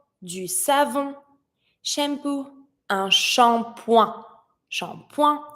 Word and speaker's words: shampoing: Shampoing, and I don't pronounce the last letter. Un shampoing.